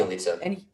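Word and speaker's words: Bjelica: There's Bielitsa, that's how you say it? Yeah. Bielitsa.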